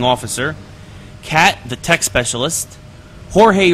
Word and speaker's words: Jorge: cat the tech specialist Jorge or or George as he's referred to into the game but it spelled like Jorge uh the machine gunner